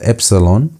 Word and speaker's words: epsilon: For example, you have epsilon which is pronounced as e.